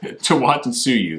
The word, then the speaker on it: Tawantinsuyu: Tawantinsuyu.